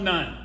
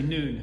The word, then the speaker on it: Nun: Israelite Community gathered there Joshua the son of nun it's actually noon if you want the proper pronunciation Joshua the son of